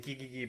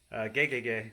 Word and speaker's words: Gegege: I was saying gigigi, but it's gegege no kitaro.